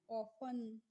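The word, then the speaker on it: often: तो इसको हमें ऑफन नहीं पढ़ना है। क्या पढ़ना है? ऑफन। यहां पे भी जो टी होती है वो क्या होती है? साइलेंट होती है। इसीलिए इसको हम ऑफन पढ़ते हैं और ऑफन की हिंदी मीनिंग होती है अक्सर।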